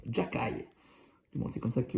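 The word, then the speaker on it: Xhekaj: Voilà, c'est comme ça qu'on prononce. Jacaille. Bon, c'est comme ça que le prononce au Québec. Arbert Jacaille, un peu le enhancer le gros bras du Canal Montréal.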